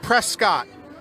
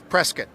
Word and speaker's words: Prescott: it it looks like prescott boy don't say that when you're around here local pronunciation and the correct pronunciation is prescott so we're gonna be